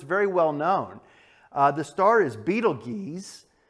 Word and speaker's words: Betelgeuse: well-known the star is beetle geese or sometimes pronounced Betelgeuse and the article says